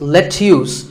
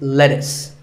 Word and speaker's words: lettuce: I know the spelling looks like it's lettuce, but it's not. It's lettuce.